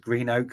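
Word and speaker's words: Greenock: done that one sorry it's pronounced Green Oak sorry uh Brian Scotsman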